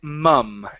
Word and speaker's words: mum: ma mom now in in England okay or British English they do say mum and it's more of an uh sound mum so there's a little bit